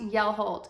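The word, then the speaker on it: Hjelholt: The yarn that I spoke about in the last episode is actually called Yell-HOLT, pronounced Yell-HOLT in English.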